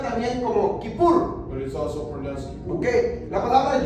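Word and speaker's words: כיפור: es así se escribe en hebreo pero se pronuncia también como kipur Okay la palabra y es día en hebreo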